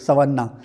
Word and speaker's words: savanna: फिर हमने इसकी स्पेलिंग देखी तो इसकी स्पेलिंग जो है ये है SAVANNA, सवाना, वो शवाना उर्दू वाला नहीं, ये है सवाना, ठीक है ना।